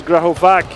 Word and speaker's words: Graovac: So apparently I have to pronounce Graovak and I also saw that she has second name Sabulak.